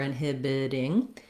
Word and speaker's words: inhibiting: last syllable inhibiting or inhibiting and this t again becomes more of a flap that sounds more like a d inhibiting where we see